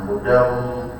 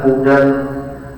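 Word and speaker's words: هدى: Nah hudam jangan hudan.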